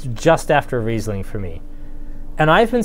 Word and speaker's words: Riesling: say it right like i wouldn't want to call riesling wrestling or riceling although in a couple parts of the world that's actually phonetically correct but generally we call it riesling but yes it is